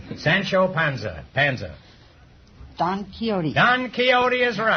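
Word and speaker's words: Don Quixote: character or character Sancho Panza Panza don kote don keyote is right until I was until I was 40 years old I pronounced that D quick quy and I have $1 15825 I prefer nqu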